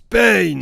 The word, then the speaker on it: Pain: Pain. Ça se prononce Pain.